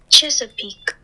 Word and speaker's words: Chesapeake: But before we move on to the next stock, here's the correct saying for it. Chesapeake.